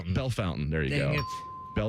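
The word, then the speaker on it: Bellefontaine: This one is Bell Fountain. Bell Fountain.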